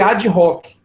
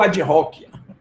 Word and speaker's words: ad hoc: Como se fosse uma palavra só e omite o H. Então, pode ser que alguém de vocês aí tenha o mesmo problema que eu tive por anos, já acabou de aprender. A pronúncia é ad hoc.